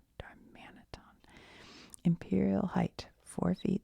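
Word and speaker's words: Darmanitan: How to say it? Darmman. Darmanaton. Darmanaton.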